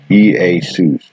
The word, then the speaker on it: Iesus: Strong's 2424, Iesus, pronounced Easus.